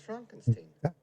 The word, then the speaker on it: Frankenstein: shine oh no thanks dr frankenstein frankenstein it's pronounced frankenstein isn't it frodrick frankenstein